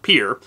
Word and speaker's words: Pierre: In March, the river had risen so much in Pierre, and yes, it's spelled Pierre, but trust me, Dakotans call it Pierre, that the town was flooded in 4 to 6 ft of water.